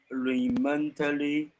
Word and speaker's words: remotely: Some were told to stop work remotely, remotely, remotely, remotely, Remotely. Remotely. Remember, this is always Lee, not lie. Lee.